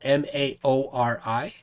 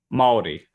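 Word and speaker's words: Māori: basis basically the um each vowel has a particular pronunciation right okay so a is r i always always pronounce r uh e is is o u and u is o and i'm messing you up as i said i was o and u is ooh okay so it's base basically the same uh pronunciation as japanese where you have the i-u-e-o okay yeah so it's spelled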